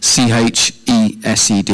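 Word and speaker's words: חסד: So in the Old Testament, the word for grace is chesed, spelled C-H-E-S-E-D, you know, pronounced as chesed.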